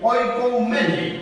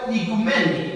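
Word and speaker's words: οἰκουμένη: viene del griego antiguo dice oik mene oikumene oikumene aunque se pronuncie en griego en el griego moderno icumen icumen que significa tierra habitada si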